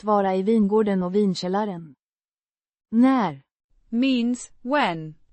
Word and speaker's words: när: När means when, pronounced när with a short a sounds similar to the a in cat and a rising intonation.